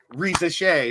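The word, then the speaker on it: Risacher: It's turning into where is Bronny going instead of Reza Shea, who is that's how you pronounce Zachary's name.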